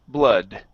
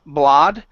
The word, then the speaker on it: blood: okay all my foolish blood all my BL okay BL instead of blah blood it's uh BL blood this is the neutral one uh BL all my